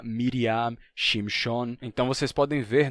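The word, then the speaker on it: מרים: o som de A então você tinha mariam sham e esse som mudou para Miriam shimon então vocês podem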